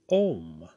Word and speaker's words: Om: first or primal chant, Om. Generally, you see it spelled O-M because that is the way it sounds, but it is spelt A-U-M, or in English vowels, A-U-M, Om.